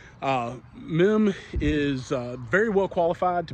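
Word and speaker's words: Meem: Russell noon now it's spelled m-e-e-m some people will say Meme here in Shenandoah County is generally men uh MIM is very well qualified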